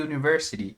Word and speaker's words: university: Mas nesse caso aqui, university, a gente tem um som começando aí como se fosse um y. Então, nesse caso aqui, a gente não vai colocar university, como se aqui fosse uma vogal de fato, tá?